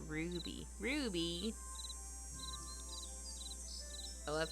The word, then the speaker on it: RWBY: It's an American-made anime show pronounced Ruby.